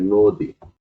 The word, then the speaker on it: নদী: মত উচ্চারণ হয়ে যায় যেমন নদী এটা হবে নদী অদ্য হবে অদ্য মানে জ